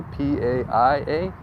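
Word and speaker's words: Pāʻia: So the I is an E, right? So if you see Paia, it's an I right there, P-A-I-A, it's Paia. You pronounce an I with an E.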